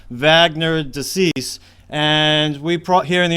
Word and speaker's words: Wagner de Assis: His name is pronounced Wagner de Assis, and we here in the United States might say Wagner, but I'm going to call him Wagner. That's the way they say it down there.